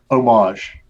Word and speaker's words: homage: up on the word Oh wash oh my I think that H is silent so the way your French words Brandon you know like